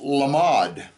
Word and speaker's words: lamed: do we get well the word lamed is a letter it's also if you spell it the lamed M dollet can also be pronounced lamod and let's look at